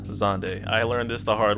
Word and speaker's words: Xande: let's get started zonday character event it's not sandy it's not zandy it's not zand it is officially pronounced zande i learned this the hard way and now